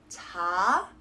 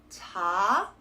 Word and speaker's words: 작은: So what you need to do instead is only be pronouncing that supporting consonant in that second syllable. So again, it's 작은. It will help if you have an actual pause in between the two syllables to really stop yourself from saying or pronouncing that sound of the supporting consonant.